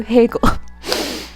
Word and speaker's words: Hegel: about bad American Education everybody thinks that Hegel rhymes with Bagel because they do not know how to pronounce Hegel the joke is apparently